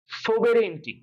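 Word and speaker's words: sovereignty: আর এটা পড়তে হবে সোবেরেইনটি। খেয়াল করো, আমার উচ্চারণটা খেয়াল করো, সৌ ভেনির, সৌ ভেনির।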